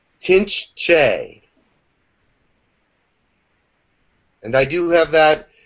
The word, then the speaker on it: Tinch Che: He is going to give an attunement for the Tinch Che. I'm sorry. And it is. How do you spell that, Jim? T-I-N-C-H, and then the second word is C-H-E, but it's pronounced Che. Tinch Che.